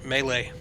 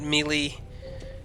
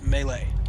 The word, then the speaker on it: melee: By the way, Melee. Okay? Not Melee. Or Malay, or... It's Melee.